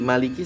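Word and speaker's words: مَالِكِ: yaumidinikiumidin ya hati-hati Maliki sat Ma dua harakat Liki satu harakat ya nanti dari Ki langsung ya jangan dipanjangin ya Jangan jadi kinya jadi panjang hati-hati ya Nah seperti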